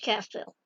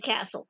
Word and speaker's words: Castile: So I think it's Castile. Castile. She kept saying Castle. Brenda Castle. Brenda Castle. Because Castile is generally pronounced as castle. It's Spanish.